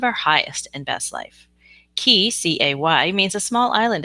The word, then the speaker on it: cay: Key, C-A-Y, means a small island in the Caribbean, which is where I live, through manifestation and the law of attraction. It's spelled C-A-Y and pronounced key.